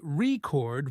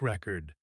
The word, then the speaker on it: record: noun like a music record. But if I say record with stress on the second part, it means a verb like to record a video.